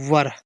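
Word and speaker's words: were: अब देखिए ये लिखा डब्ल्यू ई आर ई, इसको पढ़ते हैं वर। डब्ल्यू से वा, आर से रा, ई, ये दोनों ई साइलेंट रहेंगे, वर।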